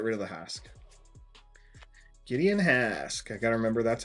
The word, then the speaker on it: Hask: that's it get rid of the HK Gideon Hask I got to remember that's how it's pronounced I don't remember how it's pronounced in